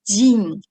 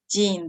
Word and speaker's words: 人: all right so let's look at the second pronunciation you can use uh it is jin jin this is uh very useful one is for